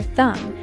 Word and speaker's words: thumb: Other examples include the B in doubt or thumb, and the W in right.